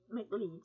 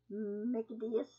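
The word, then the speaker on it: Michaelides: This book, Alex, I want to say McLeods, but it's not McLeods. It's McAdeus. Alex McAdeus.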